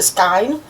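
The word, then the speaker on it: skein: So, first things first, we get another little skine ske as I'm also now hearing it pronounced a skine.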